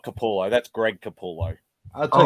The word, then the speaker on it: Capullo: I can't pronounce his name. Koala. Capullo. No, it's not koala.